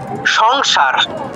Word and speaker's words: সংসার: হ্যাঁ ম এর মত উচ্চারিত হয় নরমালি যেমন একটা শব্দ যদি আমরা বলি সংসার হ্যা সংসার তো বাংলায় কিরকম করলাম সং এরকম করে উচ্চারিত হয়েছে অনুসারটা সংসার সংস্কৃতি কি হবে সামস সাম সারামা সাম সাম সংসারা আপনি দেখবেন সংস্কৃতকে যখন